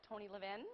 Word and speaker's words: Levin: had the opportunity to play with notables like Tony Levin. Am I pronouncing the name properly?